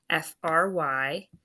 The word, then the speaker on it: fry: So it gets one scoop, mark it O for open, and that Y is making the long I sound this time.